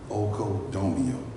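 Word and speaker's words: οἰκοδομέω: Well, the Greek word for edification is oikodomeo, and I'll spell it for you.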